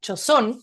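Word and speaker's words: Joseon: Tenemos reinos, muchos reinos en Corea, Chila, Corio, Chosón, que Chosón yo creo que ustedes les puede sonar por los doramas quizás de Netflix, se escribe Joseón, que es un reino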